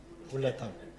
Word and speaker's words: Wulatam: How do you say your name? Wulatam. Wulatam? Yes.